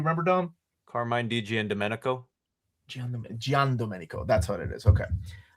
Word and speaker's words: Giandomenico: my gosh, how did he tell us to pronounce it? You remember, Dom? Carmine Di Giandomenico. Giandomenico.